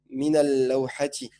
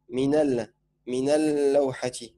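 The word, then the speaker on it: من اللوحة: Mais si, ah oui, voilà, c'est la shamsiya parce qu'on ne prononce pas l'alif justement. On dira minal lawhati. Minal lawhati. On passe du na au la.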